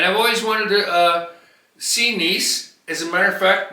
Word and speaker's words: Nice: HE says I'm going to take you to Nice. Yes, true. A long ago when we were both just kids I we looked at the map she goes that looks nice.